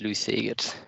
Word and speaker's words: Lou Segers: I don't know if that's the correct pronunciation. It's perfectly fine pronunciation indeed, Lou Segers.